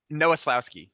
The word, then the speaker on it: Nowoslawski: to get a nickname for you too yeah pronounce it for me noeslowski noah slowski okay it's very easy well